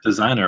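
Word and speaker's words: Desiigner: feature on part two is that desinger I think it's deser designer right it's two eyes design do I know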